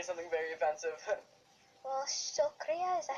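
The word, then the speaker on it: शुक्रिया: So how do you say thank you in Hindi? Shukriya.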